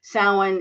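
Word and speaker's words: Samhain: traditional day of the dead or S symbols sa is the ancient Celtic uh Festival that later became Halloween sa is spelled s a m h i n s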